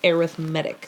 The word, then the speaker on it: arithmetic: subtracting multiplying and dividing that's arithmetic but when you use it as an adjective its arithmetic so you accent the second syllable instead of the first or no a rhythmic no third syllable instead of the second yeah that's it anyway that's what we're